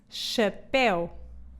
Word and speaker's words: chapéu: O CH em português pronuncia-se como sh. Por isso, não há que enganar. Esta palavra diz-se chapéu.